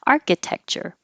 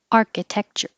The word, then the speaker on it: architecture: The stress stays on R. Architecture. It moves when you make the adjective architectural.